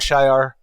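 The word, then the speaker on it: Shi'ar: throne world and yes I will pronounce it shi and shy it depends on how the flow works where the famed Imperial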